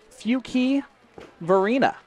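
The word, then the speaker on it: Fuquay-Varina: of course it might be time to let everyone know that Alex Bowman is from North Carolina few key Varina North Carolina is how you pronounce that and then Portsmouth Virginia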